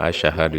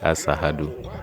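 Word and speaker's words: أشهد: Donc, en disant Ashahadu, il dit Asahadu.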